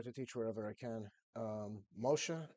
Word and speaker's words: Moshe: Moshe is actually the Hebrew pronunciation for Holy Moses.